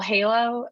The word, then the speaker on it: Heylo: business online um well halo uh which is spelled h-e-y-l if you haven't picked it up yet hey hello yeah um we love a